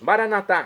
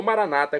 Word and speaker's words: maranatá: E agora eu clamo do aramaico dialeto de Jesus, maranatá, como dizemos nós católicos, ou maranata, como dizem nossos irmãos separados, os evangélicos ou protestantes.